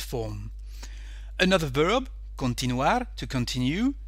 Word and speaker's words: continuar: Another verb, continuar, to continue. Here the stress is on the letter U. So we have continuo, continúas, continúa, continuamos, continuáis, continúan. Okay?